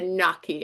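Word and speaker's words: gnocchi: But you know, my Pennsylvania roots come out and I'm always saying noki because I know that's the Pennsylvania version. And I give it the knocky. It's You're right. It's Noki.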